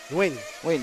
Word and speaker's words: Nguyen: Someone told me, how do you pronounce Nguyen again? Win.